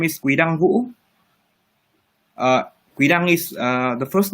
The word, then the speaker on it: Quy-Dang Vũ: We'd love to try and pronounce it. Sure. My full name is Quy-Dang Vũ.